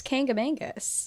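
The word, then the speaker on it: Kancamagus: it's K it's it's kangamangus kangamangus I know but there's like for some reason I always want to have like a Kanga like Ang like there's an n in there and there's not am I saying that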